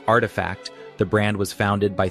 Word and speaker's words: RTFKT: Pronounced artifact, the brand was founded by three creatives blending gaming, cryptoculture, and luxury streetear aesthetics.